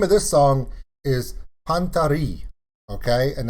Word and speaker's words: Panta Rhei: of this song is pantari okay and that's the french pronunciation if you don't agree